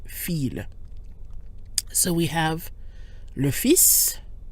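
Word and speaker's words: fils: for son fi LS but in this case when it refers to the worth read it's pronounced feel so we have low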